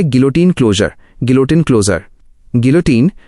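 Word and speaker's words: guillotine: गिलोटिन, pronunciation गिलोटिन, एक पुरानी machine थी जो सिर काटने के काम आती थी।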